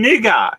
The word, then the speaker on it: nougat: it sounds racist but you don't pronounce the t in nougat you don't oh wow